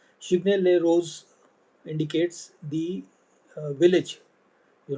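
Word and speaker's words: Chigny-les-Roses: Chigny les roses roses it's pronounced as rose. Chigny les roses indicates the uh village you know where the vineyards are located.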